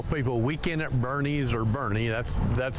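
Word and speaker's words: Boerne: is not mo it's von army it's pronounced with an a born bernay bjorn burn they always say born we tell people weekend at bernese or bernie that's that's how you pronounce it I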